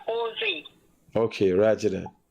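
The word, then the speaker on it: José: Anything in Spanish that have a J, it's pronounced as H. So the guy name is Jose.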